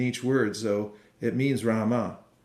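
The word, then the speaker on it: राम: ROM or Rama Rama Rama it's two syllables Rama in Sanskrit Rama in Hindi you can say ROM ROM every once a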